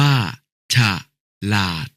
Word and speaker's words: ฉลาด: ฝรั่ง อ่าน ว่า ฝรั่ง ฉลาด อ่าน ว่า ฉลาด ถวาย อ่าน ว่า ถวาย